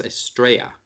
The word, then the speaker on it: Estrella: I think it's Estrella. Because the double L in Spanish is a Y. Estrella.